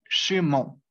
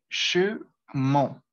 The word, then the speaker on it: chemin: a sonar nasal y se tendría que decir chemin, chemin, mon, como tratando de tapar las fosas nasales y oh, oh.